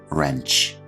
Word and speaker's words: wrench: grip for the pronunciation it's important to remember that the W here is silent pipe wrench next up we